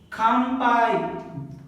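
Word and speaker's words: 乾杯: Now the last one is kampai. Ka is in the beginning, ka. Before the P again N is there. So this N becomes ma.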